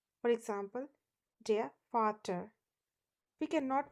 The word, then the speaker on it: Vater: It is always pronounced as V and has the sound of F. For example, der Vater. We cannot pronounce it as der Vater. It is always der Vater, which means the father.